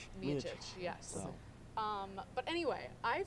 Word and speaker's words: Miocic: still call I him still kind of call him Miocic, Miocic, but it's actually, if you listen to the great John Anik, it's Miocic. Miocic, yes.